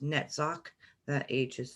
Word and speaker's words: Netzach: spheres of tith and hood and this is pronounced netzach that AG is silent at the end hood